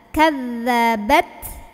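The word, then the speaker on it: كَذَّبَتْ: Kazzabat. Nah, ini tak sukun ketemu sa, bacanya jelas aja. Jadi ini gak ada hubungan tajwid, artinya tak ya keluarin dulu anginnya ya. Syiddah dulu terus keluar anginnya dulu.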